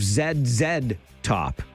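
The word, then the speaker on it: ZZ Top: and rollers, but on this side of the border, I like to pronounce it the Canadian way. A. So that's a little bit of Zed top and give me some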